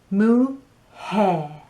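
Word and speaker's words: mujer: a j in it the word for wife m u j e r mu hair so the m u makes a mu and the j e r makes a hair because it's got a h sound right so that's much hair another word that you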